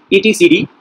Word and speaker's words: etcd: It is pronounced as ETCD, making reference to distributing a Unix etc.